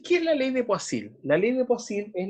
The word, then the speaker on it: Poiseuille: Poiseuille, así se pronuncia esa palabra rara.